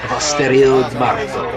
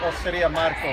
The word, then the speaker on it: Osteria Marco: Based on Adrian's pronunciation of Osterio Marto, that is where the boys decided to head to. There's a place called Osteria Marco, which is right on Larimer Street. It's Osteria Marco, Osteria Marco, Osteria Marco, Osteria Marco.